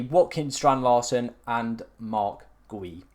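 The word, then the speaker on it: Guiu: And finally, completing the lineup is going to be Watkins Strand Larson and Mark Gui. I think it's pronounced GU.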